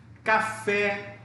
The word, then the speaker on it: café: Café é uma palavra oxítona, por quê? Você dá ênfase na segunda sílaba, na última sílaba.